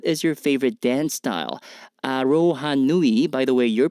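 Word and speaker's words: aroha nui: you Yan what is your favorite dance style arohanui by the way your pronunciation of this Mai word is spot on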